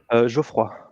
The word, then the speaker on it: Geoffroy: How do you pronounce your first name, though? Geoffroy. If you Geoffroy. want the true French side, but you Geoffroy. can say Geoff.